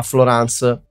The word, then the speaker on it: Florence: Ma ha deciso che ha la pronuncia francese, quindi sarà Florence.